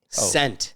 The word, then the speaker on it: scent: this list all right which letter is silent in the word scent c s no no no s c n t scent scent is it the s or is it the C it's the C you